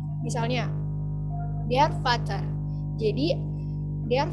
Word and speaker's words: Vater: Misalnya der Vater. Jadi der Vater, R-nya nggak terlalu kebaca, karena di depan huruf R itu ada huruf vokal.